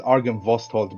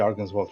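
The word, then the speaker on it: Argynvostholt: I kept pronouncing it wrong. I think so. It's written as Argen Vosthold, but I always say Argen's Vault for some reason.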